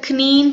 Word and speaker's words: knee: இந்த இடத்துல knee படிக்க கூடாது. இந்த இடத்துல K வந்து silent. So N-E-E, knee. K is silent.